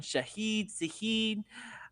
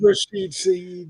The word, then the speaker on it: Shaheed: Shaheed anytime touchdown, and that is not how you say his name. I know. I was trying to put some like little French, I was trying Isn't to make it it a little Rashid fancy. Shaheed? Rashid Shaheed, yeah.